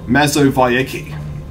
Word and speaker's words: Mazowiecki: So apparently my surname should actually be pronounced Mazowiecki instead of the W actually doesn't exist in Polish. That's always a V. But for some reason in English, it's a W.